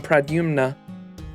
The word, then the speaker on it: Pradyumna: There's an M and an N. Pradyumna. Pradyumna. Pradyumna. So it's Pradyumna.